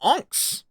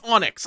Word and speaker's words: onyx: We struck Enks. Okay, it's Onyx. I know it's Onyx. I just keep Young me thought that it would be it would be pronounced Onyx or or anx.